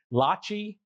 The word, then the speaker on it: Lachi: Uh this episode here we interviewed Lachi like Versace.